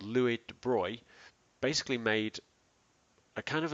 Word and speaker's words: de Broglie: called the de bruy it's spelt de broglie but it's actually the de bruy wavelength which is measured in